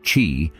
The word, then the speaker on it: qi: It's based on the idea that life energy known as ki pronouncedq chi flows through the body along pathways called meridians.